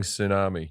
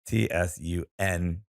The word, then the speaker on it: tsunami: my worst fear my biggest fear is spelling tsunami yes that's attack all right try it is